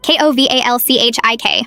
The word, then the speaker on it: Kowalczyk: "It's Kowalczyk," she shouted, slamming her hand on the desk. Kowalchik. How hard is that?